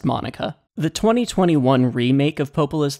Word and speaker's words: MONACA: it from Studio Monica which I'm devastated to learn I've been pronouncing wrong I was over complicating it it's just Monica the 2021 remake of